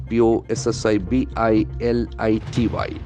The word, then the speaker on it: possibility: endings must be nouns p-o-s-s-i-b-i-l-i-t-y as you know Wade has got two properties that run sound possibility possibility can see that accent falls on the third syllable possibility possibility possibility beautiful